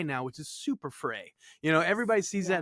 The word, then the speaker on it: Frey: a common occurrence I'm I'm my family's German used to be like if you went over to Germany it's now which is super fry you know everybody sees